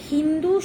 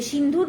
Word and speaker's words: সিন্ধু: হিন্দু শব্দটা অপভ্রংশ, ভুল উচ্চারণ করতে করতে এটা এসছে। সিন্ধুর পাড়ে আমরা থাকতাম, নদীর পাড়ে, স উচ্চারণ করতে পারতো না, হ উচ্চারণ করতো, হিন্দু হিন্দু বলতো।